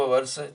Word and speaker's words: hour: तो इसका जो एच है, ये एच चूंकि हिडन शब्द है, ये हिडन शब्द है एच, इसको हम बोलते नहीं हैं, इसको हम बोलते हैं कैसा, आवर बोलते हैं या अवर बोलते हैं।